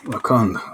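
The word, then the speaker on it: Rakand: I'm Rakan of the Bear Clan. Hello, Rakan. Let me just write that down because I'll forget it right. How do I spell it? R-A-K-A-N? RKAND. D? The D is silent.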